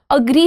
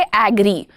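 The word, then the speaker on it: agree: जैसे अग्री होता है ये अग्री डोंट से एग्री।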